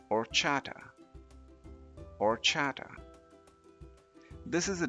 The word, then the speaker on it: horchata: the first word this word is spelled h o r c h a t a and it's pronounced or Chata or Chata this is a delicious drink made